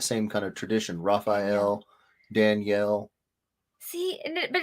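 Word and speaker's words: דניאל: jeff you joke but my hebrew name is pronounced danielle in hebrew the female is daniela i was born in israel so my correctly pronounced name is danielle danielle asher my mother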